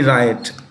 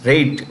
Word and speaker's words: Raitt: That's how this is RAITT, rate instead of riot.